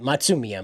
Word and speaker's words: Matsumiya: But you have Matsumiya. Yeah, that's how you say it. Matsumiya, my apologies.